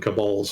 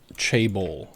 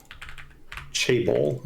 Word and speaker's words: chaebol: Yeah, a couple people, they typed Chaebol. Chaebol, okay. See, whenever I call them Cabal, it makes me think of the character from Mortal Kombat.